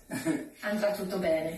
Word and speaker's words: andrà tutto bene: to COVID-19 content, is andrà tutto bene. Andrà tutto bene. Did I say it right? Everything will go right. Andrà tutto bene. Andrà tutto bene, sì.